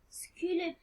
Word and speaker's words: sculpteur: À la fin de la visite, nous avons rencontré un sculpteur. ما نطقوش البي.